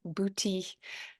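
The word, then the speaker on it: boutis: about what I'm saying it's spelled b u t i s and in French it's booty and in English it's booty um it's not spelled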